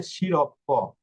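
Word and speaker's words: sciroppo: এই যে দেখুন এস, এস এর পরে কি অক্ষর রয়েছে? সি অক্ষর, সির পরে ই অক্ষর রয়েছে। এই যে আমাদের নিয়ম হচ্ছে এস এ সি, এস অক্ষরের পরে সি অক্ষর, সি অক্ষরের পরে এ কিংবা ই অক্ষর। ওকে, তো এটার উচ্চারণ শিরপ্প। আচ্ছা, আমরা এস অক্ষরের উচ্চারণটা দেখে নিলাম।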